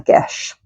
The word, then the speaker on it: geis: comes to us in the form of a Gish um that is spelled geis s um and it is an